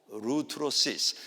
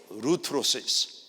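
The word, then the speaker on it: ἀπολύτρωσις: 아포루트로시스. 이게 중요한 단어이기 때문에 한번 제가 하나 둘 셋 하면 여러분이 발음해 보시기 바랍니다. 하나 둘 셋. 아포루트로시스.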